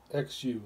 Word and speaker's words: xu: for the liver is is pronounced zoo xu like zoo with the eyes open